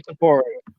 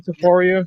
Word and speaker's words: Topuria: Ilan Ilya Topuria. Topuria. I'm saying like, am I saying it right? Ilya Topuria. Ilya Topuria. I thought it's Topuria, like Poirier. Dustin It's Poirier.